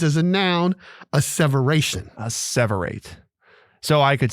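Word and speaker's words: asseverate: word of the day is a separate a-s-s-e-v-e-r-a-t-e four syllables obviously there it is a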